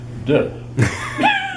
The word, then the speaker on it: Te: The next one is, here we go again, T-E, pronounced, of course, D.